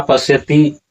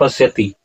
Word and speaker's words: पश्यति: और इसका उच्चारण आप कीजिए शब्दों का सही उच्चारण कीजिए यहां पर तत्रा पश्यति अस्थतान पार्थ पितृथ पितामह ऐसा उच्चारण होगा ऐसा उच्चारण नहीं होगा लोग यहां पर उच्चारण क्या करते हैं तत पसति और अस्थतान इस तरह से उच्चारण नहीं होता है।